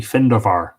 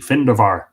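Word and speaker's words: Findabair: great stories about him actually the correct pronunciation in uh middle irish uh of the finderbar would be findover the the bee with lenition sounding like a v findovar it is declared to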